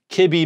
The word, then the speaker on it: kibi: So it's mebi, kibi, mebi, gibby, tebi, pebi, exbi, zebi, and yabi. That's how you pronounce them, okay?